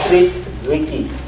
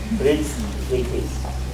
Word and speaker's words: Fritz Zwicky: In 1937, there was a maverick astronomer called Fritz Zwicky. Try pronouncing this name with two Z's. Fritz Zwicky. Your tongue will not cooperate.